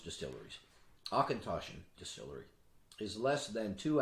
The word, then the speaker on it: Auchentoshan: we move on one of the most often mispronounced distilleries akintoshin distillery is less than two hours from kelvin